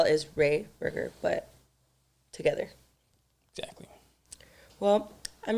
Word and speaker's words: RayBurger: Yes, RayBurger is pronounced like hamburger, except instead of ham, it's Ray. RayBurger.